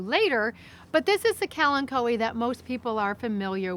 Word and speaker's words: Kalanchoe: just referred to as Ken koi so and in the plant World CH is is pronounced K so it's K and KO I know a lot of people say clanto but that's okay too